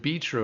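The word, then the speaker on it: Bitrue: They pronounced it be true, and I actually like that pronunciation better instead of bit true. Because is it be true or bit true? Anyway, Curris pronounced it. It sounded like be true to me too.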